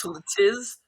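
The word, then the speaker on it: TlTIS: It's called Tiltis. Tiltis. Tltiz. But if you spell it T lowercase L uppercase T uppercase I uppercase S, it spells titties.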